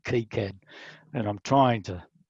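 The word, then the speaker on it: KiCad: i use cad i i call it kai-cad but um i found the correct pronunciation is actually key cad and i'm trying to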